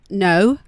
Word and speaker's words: Brno: B R N O but absolutely impossible to say unless you ask. So it is pronounced like a cold day and then a no at the end.